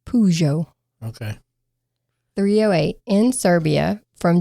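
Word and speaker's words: Peugeot: Well, I looked up how to pronounce it and it said Pujo.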